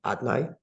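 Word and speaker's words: אדני: Whereas outside of the temple, it's recited in its alternate name, Aleph, Dalet, Nun, Yud, Adnai.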